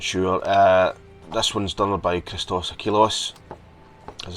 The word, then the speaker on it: Christos Achilleos: This one's done by Christos Achilleos. As I said before, we pronounced that right, or Chris Achilleos.